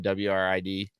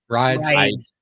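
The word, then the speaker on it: Wridz: WRID? Rides. Fucking A. Can't they put like a little notch above the W to let me know not to say W?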